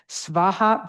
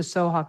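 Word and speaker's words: svāhā: So it's svaha. But I'd go with the soha cuz that's how I learned it.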